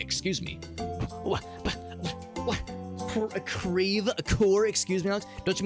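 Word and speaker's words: Creve Coeur: Don't you mean Crevecoeur? So here in St. Louis, that's how we pronounce everything. We pronounce our French places like very phonetically, like deliberately. It's very odd. It's not Crevquois, it's Creve-Coeur.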